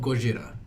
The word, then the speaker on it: Gojira: I love Gojira. Thank you. I'm not the only fucking person that pronounces it that way. Yeah. I pronounce it both ways.